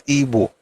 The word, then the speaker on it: Igbo: It's still IBO, and I pronounce it as Igbo. In fact, this is my own way to protest that your stupid Igbo or Igbo nonsense that you guys are doing. It is IBO, but the pronunciation is Igbo.